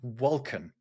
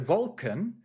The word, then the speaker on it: wolken: You don't pronounce the N at the end.